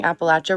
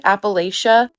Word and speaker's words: Appalachia: And also, some of you are telling me that I'm pronouncing Appalachia wrong. I used to pronounce it like Appalachia.